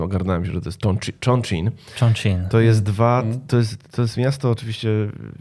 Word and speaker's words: Chongqing: Byłem na stypendium w Chinach, w takim mieście, nie miałem zielonego pojęcia, jak się wymawia nazwa tego miasta. Potem ogarnąłem się, że to jest Chongqing.